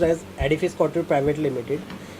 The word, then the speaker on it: Edifice Couture: हाँ, थोड़ा सा हो जाता है पर as this is pronounced as एडिफाई स्काउटर private limited.